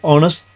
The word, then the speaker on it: honest: Use an before vowel sounds like honest. In this case, H is silent.